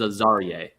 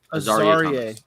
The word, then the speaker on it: Azariah: pronunciation for this one is Azariah. Azariah.